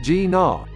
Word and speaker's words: GINA: we but now that we've seen the bmw gina concept pronounced g naw we've got a pretty good idea and it's